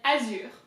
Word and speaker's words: azur: So here I think that the important part is the R. There's a very high and heavy emphasis on the R in French, and you have to kind of get it from deep down and pretend like you're upset.